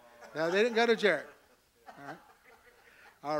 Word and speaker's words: Jared: And actually, Jared is actually in Hebrew pronounced Yared. All righty. So we see like Jehovah is Jehovah. Alrighty. You have that J sound is actually a Y sound.